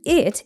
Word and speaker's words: it: The word it isn't pronounced with a true T sound in American English.